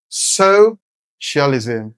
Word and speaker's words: socialism: So, whether you break it down or you stress at first time, you still have so- cialism focuses on shared resources. The stress is on so, the first syllable.